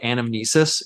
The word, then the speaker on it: anamnesis: It's something like anamnesis.